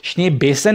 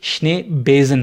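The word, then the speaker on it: Schneebesen: तरह आ रही है, वो इसलिए क्योंकि जो जर्मन में जेड और एस हैं वो आपस में इंटरचेंजेबल हैं, यानी कि जेड की साउंड जो है वो सेट वाली आती है और एस की साउंड जो है वो रफली जेड वाली आती है, तो श्ने बेसन नहीं होगा, ये श्ने बेजन होगा।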